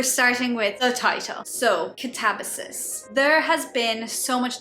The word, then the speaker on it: Katabasis: However, my fiance says Katabasis. I've seen people, I think Katabasis, like change the second syllable sound. Anyway, I watched this interview with R.F Kuang about the pronunciation, and she did say that she says Katabasis, but she also used to say it another way.